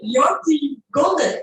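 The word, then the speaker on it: Jyoti Gondek: Yoti Golden, right? Is my pronunciation close? Correct. Yes, very good.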